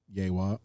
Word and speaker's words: Yewa: So let's say someone is crowned 𝘃𝗏𝗿𝗏 or Yewa.